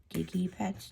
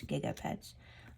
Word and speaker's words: Gigapets: Tamagotchi or Gigapets, or Gigipets? No, it's Gigapets.